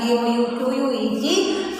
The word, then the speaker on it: bouquet: We are writing that word as B-O-U-Q-U-E-T and we do not pronounce the T.